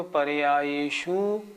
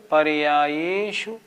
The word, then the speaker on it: पर्यायेषु: तो पढ़ते हैं सर्वद्रव्य पर्यायेषु केवलस्य। ये गलत हो गया। हमें जोर देना है पर्याय ये पे, शु पे नहीं। उच्चारण कैसे करेंगे? सर्वद्रव्य पर्यायेषु, पर्यायेषु, शु छोटा है ना, पर्यायेषु केवलस्य।